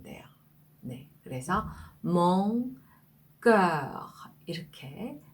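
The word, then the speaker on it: mon: 비강모음이라는 그 보험이 되는데요이 오 발음을 하다가 끝에 코로 올려줘서 발음을 하는 겁니다 그러니까 코를 통해서 발성되는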